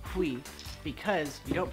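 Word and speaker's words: huit: When you say oui, which is eight in French, you don't actually pronounce a T, which I've been doing that. Don't do that. Oui. It's oui, because you don't pronounce a T because it's not careful.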